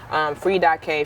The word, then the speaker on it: FREE K: So, like the whole saying itself, the way that I normally would say it would be like, Free.K, free but the K is silent, don't think too hard about it.